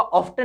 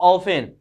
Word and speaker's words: often: ऑफ्टन नहीं होगा, OFTEN है, इसका मतलब ऑफन।